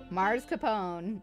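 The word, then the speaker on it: mascarpone: is so good mars capone is correct but as with all pronunciation things if your accent says otherwise that's fine tomato tomato gotcha gotcha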